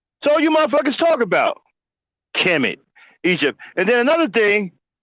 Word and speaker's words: Kemet: Kemet is spelled KMT. We don't know what the fuck that is. Y'all just gonna throw a fucking vowel in there, a fucking vowel in there where there was no fucking letter, and just